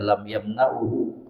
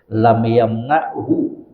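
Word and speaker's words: لم يمنعه: Yaitu kalau ada ibu pegang bukunya bapak, itu bukan bacanya lam yamna'hu, tapi disukun lam yamna'hu, itu yang benar, karena huruf lam dalam bahasa Arab itu menjazmkan kata setelahnya, membuat kata setelahnya itu sukun.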